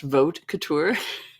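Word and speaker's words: Vaute Couture: um well I think the first one is pronounced vote Couture that's right I am have to be very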